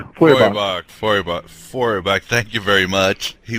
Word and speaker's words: Feuerbach: Feuerbach, thank you very much. He was a very important but overlooked Christian theologian with a Gnostic gestalt. Could you tell us a little bit about him? Well, Ludwig Feuerbach was a German intellectual, a precursor of Marx,